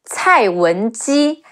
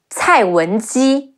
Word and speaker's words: Cai Wenji: Another female character, Cai Wenji, Ci Ai Cai, Wu En Wen, Ji Yi Ji, Cai Wenji.